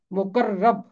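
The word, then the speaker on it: مقرّب: میں لفظ آتا ہے مقرب۔ مقرب، رے کے اوپر تشدید ہے، مقرب، رے 2 دفعہ ہے۔ مقرب کا مطلب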